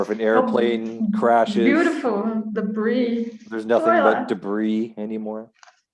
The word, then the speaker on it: debris: um that's pronounced differently uk english would say debris oh really i didn't know that and in north american english it's debris and i'm sure there's an